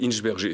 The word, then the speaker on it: Hinsberger: Non, normalement, c'est Hinsberger. C'est quand même un nom à consonance allemande. Donc voilà, on prononce toutes les lettres un petit peu comme on le fait, mais bon...